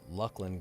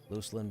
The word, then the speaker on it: Luclin: We used to say Luckland growing up, but I heard somebody from SOE pronounce it lucin one day, which kind of makes sense because then you think of lucid, like lucid dreaming.